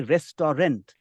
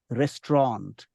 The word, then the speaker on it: restaurant: good pronunciation not to suggest that the other pronunciations are incorrect right but you if you can use the word don't say Resturant say restaurant restant restant restaurant that's correct you should try